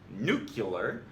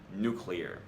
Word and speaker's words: nuclear: Despite George W. Bush's efforts to normalize the pronunciation nuclear, the correct pronunciation is and will forever remain nuclear.